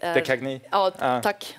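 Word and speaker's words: De Caigny: Sen så tycker jag också uttalet är... Dekagny. Ja, tack. Dekagny.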